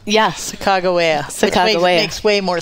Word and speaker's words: Sacagawea: But I guess the correct pronunciation of her name is Sacagawea. Yeah. Sacagawea.